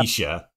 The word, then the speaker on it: Letitia: And then I looked at your thing on Discord where you actually like put the proper pronunciation. I'm like, oh, Yep. Letitia.